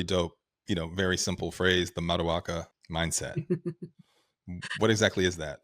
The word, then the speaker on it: Maduaka: And actually it's Maduaka because I am Nigerian, but we will give the... Wait, can you say it again? Maduaka.